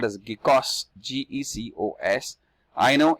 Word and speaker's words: GECOS: GECOS.